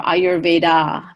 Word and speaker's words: Ayurveda: big hot the jaw so that terminal a is pronounced uh not ah so that's why in India you'll never hear anyone say yoga or Ayurveda because that last aa is just a schwa sound ER is just an